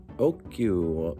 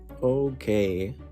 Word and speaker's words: Okuno: This time, last name, Chloe Okyu. No. It's OKUNO.